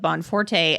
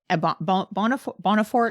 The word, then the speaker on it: Bonforte: But I do think otherwise his arc has a lot to do with his study of Bonforte and Bonafort. I pronounce it Bonfort. Bonfort. Pick your poison.